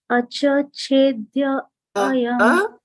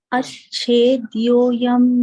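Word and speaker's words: अच्छेद्योऽयम्: Acchedyo ayam. Ached. Yeah, ached, yeah. Actually, it might be easier for you to pronounce it this way. Ached, right? Go. Acchedyo yam adāhyo yam.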